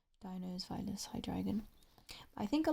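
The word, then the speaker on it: Deino: I think a lot of people don't know that because I hear most people pronounce Dino as Dano or Dino, which if you knew where the origin of that was, then you wouldn't do that.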